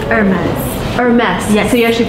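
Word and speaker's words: Hermès: It's Hermes. Hermes, yes. So you actually pronounce the last. It's a French brand, so you don't pronounce the H. It's Hermes.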